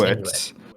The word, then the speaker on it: Inuit: Yeah, it is Inuit.